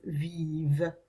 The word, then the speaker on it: vivent: So we've got je vis, tu vis, il, elle, on vit, nous vivons, vous vivez, ils, elles vivent. Okay, again our ENT is silent.